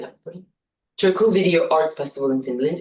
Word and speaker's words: Turku: Her recent artist film, Epistemologies, was screened by Turu Video, am I pronouncing that? Turku Video Arts Festival in Finland in March 2025.